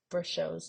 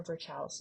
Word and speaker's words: Virchow's: We call this Virchow's node or Virchow's node.